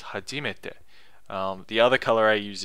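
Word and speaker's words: 初めて: So I color that orange because it's not heiban, it's not flat, but it's also not the first accent, which I forget the name of that actually. So it's not hajimete, it's hajimete.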